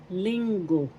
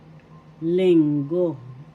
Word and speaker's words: Linggo: Lingo lingo that's Sunday in English. First syllable link syllable go. The accent is in the first syllable lingo.